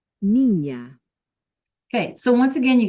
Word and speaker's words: niña: mañana, But then when we add the squiggly, right, the tilde, that's when it becomes like a NY, like canyon. Nya, nya, nya. Okay, so let's listen. señor, baño, niña, Okay, so once again,